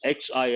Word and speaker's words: Xi: Particularly with President Xi, we pronounce XI as Xi, framing China's COVID response as one of his big legacies.